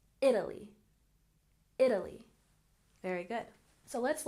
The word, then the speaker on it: Italy: and Italy has stress on on the first syllable Italy Italy very good so let's look at some